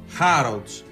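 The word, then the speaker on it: Harrods: Χάροτς. Το ρο δεν προφέρεται. Χάροτς.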